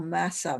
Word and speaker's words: Massa: difficulty pronouncing it and they just say the first two syllable which is masa with some corruption in there so old master died